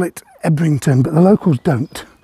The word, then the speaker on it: Ebrington: we may call it ebrington but the locals don't it's spelled ebrington but the locals call it yon for some reason the